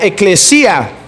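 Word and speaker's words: ἐκκλησία: logía viene de una palabra griega que se pronuncia ekklesia que quiere decir los que son el trabajo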